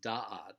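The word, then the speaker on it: דעת: Next word is da'at, which means knowledge. And this word is actually stressed on the first syllable, so it's da'at.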